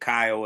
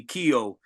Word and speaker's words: Kyo: album with Kyo and he pronounced it Kyo Itachi on the records and then we found out years later when we actually met Kyle he's like they actually called me Kio in Paris but uh he's like